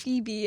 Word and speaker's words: Phoebe: you know it's pronounced Phoebe.